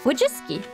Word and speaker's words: Wojcicki: to how it reads the last c is pronounced like an s so if you strip out the weird stuff it'd be like wojiski oh we just susan wojcicki susan which is